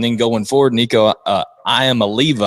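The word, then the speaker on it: Iamaleava: going forward Nico uh I am Oliva I think it's how you pronounce it I'm not uh yeah look you got you nailed it I think I just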